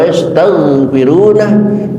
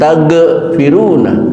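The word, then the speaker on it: يستغفرون: Afala yatubuna ila Allah wa yastaghfiruna mohon jangan dikolkolahkan ghinnya, baca wa yastaghfiruna, jangan tagfiruna tapi taghfiruna. Wallahu, berkali-kali saya ingatkan, waw dipatah dibaca wa bukan wa, oleh karena itu bacanya wallahu bukan wallahu.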